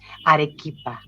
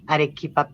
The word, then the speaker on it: Arequipa: Um, well, the pronunciation of the place is Arequipa, Arequipa, Peru.